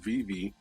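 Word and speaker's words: VeVe: dollars i go to a particular app called vv uh it's spelled v e v e and they have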